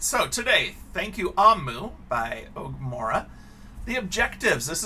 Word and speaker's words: Omu: us we're the readers omu pronounced oh it's pronounced amu amu i was saying that wrong my goodness it's amu is the igbo term for queen so this